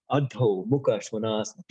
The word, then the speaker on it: Adho Mukha Svanasana: Mukha Svanasana, downward facing dog, which must be pronounced correctly for God's sake. Adho Mukha Svanasana.